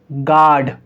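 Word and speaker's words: guard: तो यहाँ पर यू साइलेंट होगा, तो हम इसको क्या पढ़ेंगे? गाइल, गार्ड।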